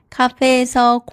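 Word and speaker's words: 카공족: « Kagongjok » (prononcé « café-gogjok ») signifie « personnes qui étudient dans les cafés ».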